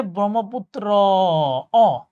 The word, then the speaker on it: ব্রহ্মপুত্র: ব্রহ্মপুত্র। এটা হচ্ছে নদ। কেন হয়? লাস্টে উচ্চারণ হচ্ছে ব্রহ্মপুত্র অ। আর অ লাস্টে অ উচ্চারণ হলে ওটা নদ হবে। ঠিক আছে?